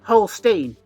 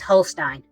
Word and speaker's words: Holstein: from the Netherlands and in Dutch the uses of e and I or I and E are pronounced according to the second letter e i is pronounced